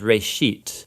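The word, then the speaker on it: ראשית: Genesis comes from a Hebrew word. It's pronounced reshit, and it just means beginning.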